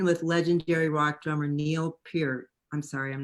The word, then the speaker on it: Peart: clockwork lives written with legendary rock drummer neil peart i'm sorry i'm not i don't know that one period you did you did pronounce it just right good job okay good